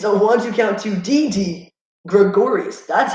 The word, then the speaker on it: Didi Gregorius: oh my goodness it's a one-two count to didi Gregorius that's how you say his name last time